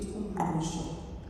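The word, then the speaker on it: umngqusho: When I get home, I want to eat umbusho. What? Umbusho. Do you want to try and pronounce it?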